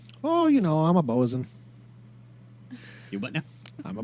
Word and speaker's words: boatswain: he like a human do i not know what a boson is spelled botswane yeah boatswain it's a job on a ship i'm a stupid man